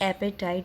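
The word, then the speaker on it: apartheid: ये chapter base है एक एपेटाइट थ्योरी पे. यस, ये जो वर्ड आप देख रहे हैं ना पर्टिकुलर, ये इसको हम ऐसे प्रोनाउंस करते हैं इंडियन इंग्लिश में एपेटाइट. इसमें आर आपका साइलेंट है.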